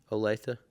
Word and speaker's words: Olathe: Olatha. Olo- Olatha? Uh-huh. Okay. Which it's spelled o l a t h e.